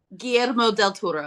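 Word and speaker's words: Guillermo del Toro: I always say his name wrong. Adrien, go ahead. GMO del Turo.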